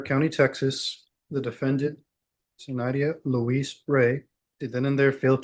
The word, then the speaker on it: Rey: 2019 CR 9790 state versus Luis Ray is it Ray the last name? Yes, I thought I was pronouncing Miss Ray.